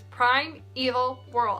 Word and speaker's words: Primeval Whirl: I, for the life of me, could not say it right. I kept calling it Permaville or something like that. Yeah. I don't know why I couldn't get it into my head. That was Primeval Whirl.